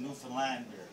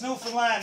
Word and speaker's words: Newfoundland: a beer a good newfoundlander and it's pronounced newfoundland not newfoundland or new finland newfoundland is the oldest